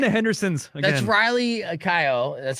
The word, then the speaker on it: Keough: Riley Keough.